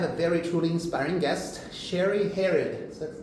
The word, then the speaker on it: Sherri Hered: So today we have a very truly inspiring guest, Sherri Hered. Is that how you pronounce it?